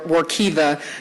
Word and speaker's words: Workiva: that i have so this legislation is for workiva this is a software that is correct pronunciation i was dared to say it the